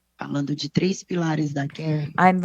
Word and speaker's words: Qair: Bom, eu vou terminar Well, falando de três pilares da Qair. I'd like to end by talking about A maneira three como a gente pillars faz os nossos negócios. that Qair adopts and that permeates all of our No business.